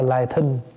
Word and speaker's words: lai thính: Lai thính pháp giả ưng chí tâm. Thỉnh thoảng thầy nghe ai đọc là lai thính, đọc cho đúng là lai thính. Lai thính pháp mà, lai là đợi, lại đây.